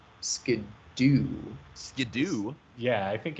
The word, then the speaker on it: Skiddo: This is reinforced by the pronunciation in the English-speaking dub of the anime, being less like Skid-O and more like Skidoo.